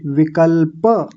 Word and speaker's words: विकल्प: ये शब्द तो आपने खूब सुना होगा लेकिन विकल्प नहीं बोलेंगे। विकल्प प पूरा है।